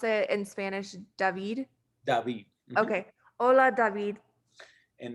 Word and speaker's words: David: And you pronounce it in Spanish, David? David.